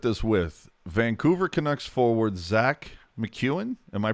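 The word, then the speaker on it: Zach MacEwen: I'm going to start this with Vancouver Canucks forward Zach McEwen. Am I pronouncing that correctly?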